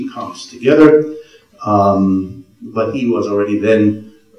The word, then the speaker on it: Uwe: UI it's a mystery U is how you ought to pronounce it if you honor the German language which where it comes